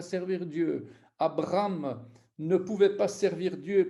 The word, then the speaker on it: Abraham: Et on doit entendre ce Hé, Abraham, Abraham. On doit tout faire pour l'entendre, cette lettre. Elle doit être prononcée de manière expressive, comme la haine, la H ou l'interjection ha.